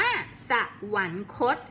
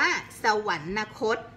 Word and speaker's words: สวรรคต: สะ กด สวรรค์ โค้ด คำ นี้ อ่าน ว่า สวรรคต เรา ไม่ อ่าน ว่า สวรรนคต เพราะ วัน นี้ นอน